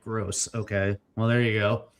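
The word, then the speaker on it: Groß: Oh, you pronounce Grobe like gross.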